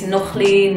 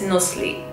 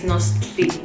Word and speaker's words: Nochtli: A lot of people think it's Nochtli, Nochtli, or whatever. But you pronounce my name as Nochtli with the T-L-I. It's Nochtli.